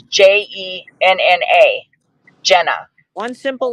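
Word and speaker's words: Gena: had it spelled wrong it's g-e-n-a and that actually spells Gina Gina different person she pronounced it Jenna Jenna well Nani that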